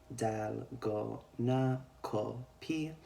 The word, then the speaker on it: 달고나커피: this line in it, it makes a K sound. So Ko. Ko, yeah. And then P. This is a P, and then this is an E sound. So we can see here, phonetically it would be dal, go, na, ko, P. And this is, of course, the Korean way of saying coffee. They don't have the F sound in their alphabet, so